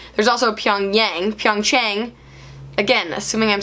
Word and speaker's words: Pyeongchang: So that is Pyeongchang, C-H, Chang. There's also Pyongyang, Pyeongchang, again, assuming I'm saying